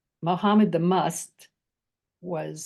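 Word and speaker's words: Mast: And we come closest to it in must. Like we say, Muhammad the Must was spelled M-A-S-T, but it's pronounced must.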